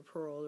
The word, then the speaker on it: purl: Now purl is spelled P-U-R-L, but I act like I'm diving for a purl, picking it up and pulling it up.